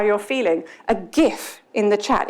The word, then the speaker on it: GIF: GIF wars, where you're in the, it's pronounced GIF, when you're in the middle of a conversation